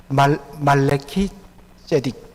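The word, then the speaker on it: מלכי־צדק: 사실은 이 멜기세덱이라고 우리 한글로 되어 있습니다만 정확하게 발음하면 말레키 제데크입니다. 말레키 제딕. 말레키란 말은 마이 왕, 마이 킹, 나의 왕이란 뜻입니다. 그리고 제데크, 우리 발음이 정확하지 않아서 세덱이라 이렇게 이야기하는데 원래는 제데크입니다. 제데크란 것은 의롭다라는 뜻입니다.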